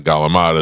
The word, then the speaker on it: calamari: So calamari is what you people say. Galamad is what my family says.